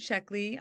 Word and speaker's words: Sheckley: was Robert Sheeley and I hope I got pronounced his name last name correctly yes absolutely absolutely so Robert sheckley my dad uh was a science fiction writer